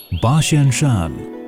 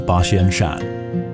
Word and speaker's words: Basianshan: The pronunciation of 8,000 in Japanese, Hatsen, is similar to Basian in Mandarin. Shan is Mandarin for mountain, hence the name Basianshan.